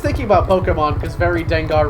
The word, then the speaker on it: Dengar: Now I'm just thinking about Pokemon because very Dengar rhymes with Gengar, and that's all I got.